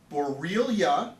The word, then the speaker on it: Borrelia: It's a bacterial illness that is spread by, okay, and I'm going to spell it because the spelling of this is brutal. Borrelia, that's how you say it, B-O-R-R-E-L-I-A, B-O-R-R-E-L-I-A, Borrelia burgdorferi, one word, burgdorferi.